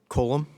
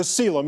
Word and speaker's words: coelom: Colum? The coelom is the pronunciation, but yes.